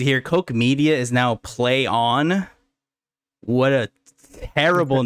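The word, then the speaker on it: Plaion: like leon like like almost peon right i was like but no it's it's the luckily the article told me because i would not have read that it was literally said pronounced play on great the owner of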